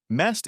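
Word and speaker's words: месть: Mest is the pronunciation of the word revenge in Russian.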